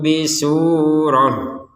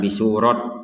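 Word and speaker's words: بسورة: yaitu pantulan abdina Fau bisurah kita di sini bacanya bisurah membacanya dengan huruf ha bukan bisurat nah Kenapa tidak baca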